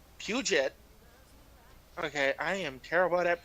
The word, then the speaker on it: Puget: Puget. Okay, I am terrible at pronunciations.